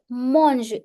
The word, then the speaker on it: mangent: So, plusieurs z'élèves, mangent. E N T in pronunciation remains silent.